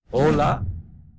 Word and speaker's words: hola: La H es completamente muda, como en hola o hermano. Nunca se pronuncia.